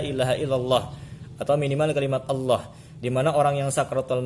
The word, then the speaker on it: Allah: Nah, jadi bukan Allah, tapi Allah, Allah, huwallahu, bukan huwallah, huwallah.